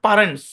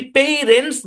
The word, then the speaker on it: parents: ধরে নিলাম এটার অরিজিনাল উচ্চারণ পারেন্টস, কি, পারেন্টস, এটার অরিজিনাল উচ্চারণ পারেন্টস। দরকার নাই অরিজিনাল উচ্চারণ, আপনি যদি পেইরেন্টস বলেন তারপরে তো অত বেশি ভুল হচ্ছে না।